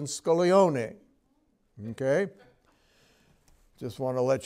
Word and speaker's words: Scaglione: It's kind of like the G in Scaglione.